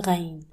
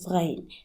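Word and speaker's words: غين: The closest sound to it in English is the letter G. So if you can't pronounce it, just use G. Or the French R, like in the word rose, ra. It sounds just like the noise you make when you gargle.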